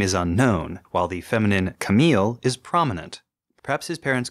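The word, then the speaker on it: Kamille: should use going forward I think Camille but what do you think I also think Camille I think that's clearly what is used when when Camille is arguing with fa he doesn't say it's Kam not he doesn't like correct her pronunciation he just doesn't want to hear his name and when Jared hears fa say it it sounds to him like the feminine Camille mhm although that raises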